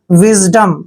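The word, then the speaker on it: wisdom: की मात्रा पढ़ते हैं और एस का उच्चारण यहां पर हमने ज करना है क्योंकि एस से पहले जब भी आई आता है तो एस का उच्चारण ज करते हैं और डीओ का उच्चारण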